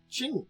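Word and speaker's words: Qing: queen Dynasty uh uh King que King Q iing G key King how's this pronounced I'm going to actually look this Ching oh it's ching ching okay sorry I just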